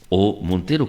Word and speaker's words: O. Montero: Resulta que pues nos visita en este estudio el señor O. Montero. ¿Cómo se pronuncia, don?